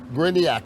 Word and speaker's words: Gryniak: of the voices in tampe area uh griniak how are you doing yeah good you said